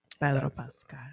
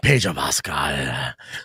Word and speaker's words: Pedro Pascal: Pedro Pascal. Pedro Pascal. I know. Roll your R's, dude.